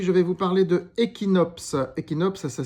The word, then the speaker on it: Ekinops: Alors aujourd'hui, je vais vous parler de Equinops. Equinops, ça s'écrit E K I N O P S.